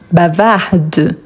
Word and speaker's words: bavarde: Donc ici, par exemple, bavar bavarde. Donc ici, je prononce le D, ce n'est pas le E, c'est le D.